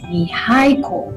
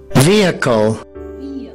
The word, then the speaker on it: vehicle: So you wouldn't pronounce this as vehicle or vehicle or something like that. The stress is at the beginning, so you will pronounce it as vehicle.